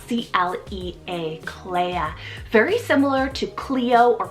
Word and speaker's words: Clea: meaning Noble one next is Clea spell c-l-e-a Claire very similar to Clio or Chloe but this